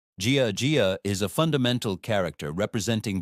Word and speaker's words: 家: What does the character Jia, pronounced Jia, mean?